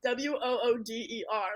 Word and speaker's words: water: Okay, see, like I mean, now like when I write the word water, it's WATER. But like when you actually say like water, it's WOODER. Like that's how you would like spell it out.